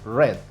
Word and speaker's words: read: y su pasado que se escribe exactamente igual pero se pronuncia red como el color red tenemos el verbo sin